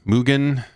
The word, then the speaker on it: Mugen: Yeah, so is it hard G Mugen?